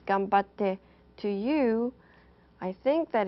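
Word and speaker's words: 頑張って: Now I'm going to introduce you to another Japanese term, which is pronounced gambatte.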